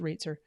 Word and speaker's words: Roetzer: My good friend Paul Reitzer is the founder and the CEO, and he is just amazing. It looks like Roetzer. Is just and it's pronounced Reitzer.